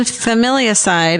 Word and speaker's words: familicide: How do you say that? Like a family side?